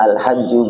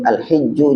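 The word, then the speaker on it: الحج: kita baca Bismillahirrahmanirrahim alhajju Haji bifathi awalihi wa kasrihi boleh bacanya alhajju Boleh dengan Fathah wakasrihi di kasrah Boleh alhijju juga boleh lugatan secara bahasa alqasdu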